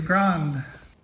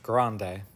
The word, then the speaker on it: grande: Very nice studio, grand. Oh, Justin, bless your heart. It's pronounced grande.